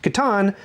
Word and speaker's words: Catan: Now, just a side note, it's correctly pronounced Catan, but I say Catan, because I'm double jointed.